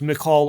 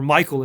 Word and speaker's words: Michal: one of seoul's daughters michal or michael as we often say her name she actually finds out